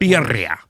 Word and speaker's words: birria: With the with the like adju birria Whatever you call it. birria You got to roll your r's.